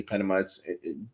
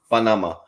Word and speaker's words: Panama: He lived in Panama, as the American people say Panama. Generally it's pronounced Panama.